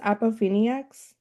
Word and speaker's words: Appofeniacs: Is it pronounced Apoeniacs?